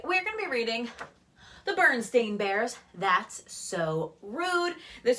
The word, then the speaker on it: Berenstain: so we've got the I know it's not Bernstein bears but I'm gonna keep referring me to it but Berenstein bears berenstain bears so let's pronounce it the right way baby I think I'm